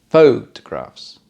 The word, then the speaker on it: photographs: i like to take photographs photographs first syllable stress for the noun what does that make